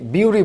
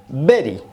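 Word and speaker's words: bury: হতে পারে খেয়াল করুন এই শব্দটির উচ্চারণ আমরা কি করি অনেকে বিউরি বলি অনেকে বেরি বলি সঠিক উচ্চারণ হচছে বেরি বেরি মানে সমাহিত করা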